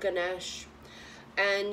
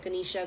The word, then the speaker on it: Ganesha: to chant to Lord Ganesh. And, you know, Lord Ganesh, however you want to pronounce it, Ganesha, Ganesh, is to ask to help remove obstacles.